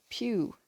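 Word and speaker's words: piw: The word for who in Cornish is pew. This is spelt P-I-W.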